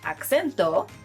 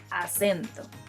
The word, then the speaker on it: acento: I know the word in English and the word in Spanish look very similar, but they are pronounced differently. So instead of acento, say acento.